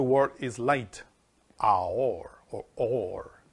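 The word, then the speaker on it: אור: is light, Aor, or Or. It's pronounced Or. That light is pronounced with Aleph, Vav, and Resh.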